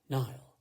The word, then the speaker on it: Niall: well then there was the baby nile which sounded like the river cassie just called it the baby his name is niall all she wanted was